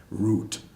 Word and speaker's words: Ruth: of German immigrants Babe Ruth are you th pronounced root German also lots of nationalities